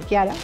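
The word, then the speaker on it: Chiara: Kiara se escribe con CH por si acaso, pero se pronuncia Kiara.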